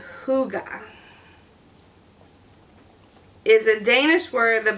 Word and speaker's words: hygge: to cut out snuggles pups and tigey he pronounced hygge is a danish word that basically means feeling